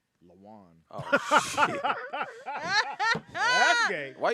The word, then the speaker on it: Lawan: You think it's spelled like a Mexican? Like I think so. L.A. Juan? Juan, yeah. W. Yeah, LA. Is it Lawan? Yeah, I Yeah. believe. Say it, Ada. Lawan.